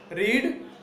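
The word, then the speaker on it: read: Negative में क्या करेंगे, Ram will not have रीड book. रीड मतलब रेड, वो स्पेलिंग एक ही है, रीड रेड रेड पढ़ते हैं उसको ठीक है।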